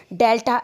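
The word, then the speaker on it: Δ: is represented by the delta S with an arrow over it. Students, this triangle is actually a Greek letter. It is pronounced as delta.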